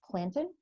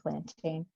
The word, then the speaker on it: plantain: edible um let's see the name plantain i've seen it or heard it pronounced planted but i'll say plantain derived from latin plantage